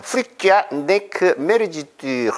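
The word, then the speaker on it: Fluctuat nec mergitur: 저는 불어로 읽어 버릇을 해서 불어로 읽어보겠습니다. 프릭쥐아 네크 메르지뚜 이렇게 읽습니다. 라틴어 발음은 조금 다릅니다. 프룩두아트 네크 메르기뚜 이렇게 읽는데 불어는 좀 다르게 읽습니다.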